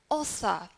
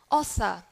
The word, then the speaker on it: author: In British English, we don't usually pronounce the R sound if it is at the end of the syllable. However, we would pronounce the R sound in American English. That is to say, we would change the sound into For example, this word, in British accent, we would say author.